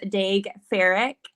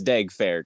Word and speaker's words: Daeg Faerch: of exciting this is D fck which did I say your name wrong probably yeah it's D fa AKA great dig there